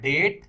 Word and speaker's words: debt: इसको डेप्ट नहीं प्रोनाउंस करिएगा, इसको प्रोनाउंस किया जाता है डेट, मतलब होता है कर्ज।